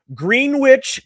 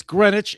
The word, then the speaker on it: Greenwich: You You said it's Greenwich. Is that what you're saying to me? Yes, it's Greenwich. It's spelled like Green Witch, but it is Greenwich, just like Greenwich Village in New York City.